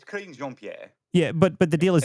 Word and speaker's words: Karine Jean-Pierre: I think it's pronounced Karine Jean-Pierre or something like that, but it's much easier to say Karen Jean-Pierre. Now, I don't know how you actually say her name, and no one cares really because Karine Jean-Pierre. It's Karine Jean-Pierre.